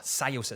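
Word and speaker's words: Tsuyosa: citizen Sosa or Sosa Sosa someone left a really great comment that said it's it's pronounced like this s in front of tsunami Sosa so I think I'm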